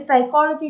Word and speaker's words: psychology: t is not silent if i write pen in that word that alphabet p is pronounced but in psychology it is not pronounced so in english language